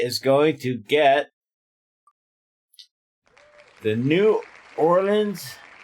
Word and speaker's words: New Orleans: Sexy Hefe is going to get the New Orleans. New Norlands is how they say it down there. Norlands. Norlands. Like Narl, but Norland.